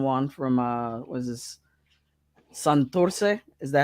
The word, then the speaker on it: Santurce: Santurce? Is that how you say it? Santurce.